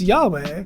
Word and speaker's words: Yahweh: Given that the consonants of Yahweh are yad, wah, and that the w in ancient Hebrew is a w or u sound, the second syllable is best reconstructed as we instead of wah because it's harder to do the double vowels on top of the uh the wa. So it's a way, which is way easier to construct grammatically.